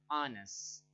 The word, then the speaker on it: honest: Nah, sedangkan ini nih, ada kata-kata tertentu yang karena silent letter, dia walaupun diawali dengan konsonan, tapi secara bunyinya dia itu adalah vocal, honest, seperti itu. Jadi H di sini tidak dibaca, seperti itu ya.